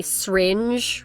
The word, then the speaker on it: syringe: And you say it as like one syllable. Yeah, That's interesting. Yeah, I never heard that before. Syringe. Syringe, yeah. Like crayons.